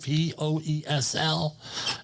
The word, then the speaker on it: Poesl: Safety Wars, Poesl, Poesl. Not the other way, please. Easy to remember, all right? Poesl, but how do you say it? My favorite word is proposal.